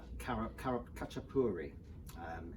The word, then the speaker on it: khachapuri: we're starting georgia i think first and the khachapuri is i think is how it's pronounced um it's like a cheese bread so